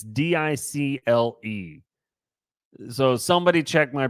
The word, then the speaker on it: Dicle: Researchers from Dickel University. Hold on. I don't know that I pronounced that correctly. It's Dicle.